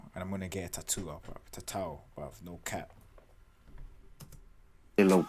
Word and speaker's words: Tatau: I hate pronouncing shit wrong. Tatau. I was saying tattoo, fam.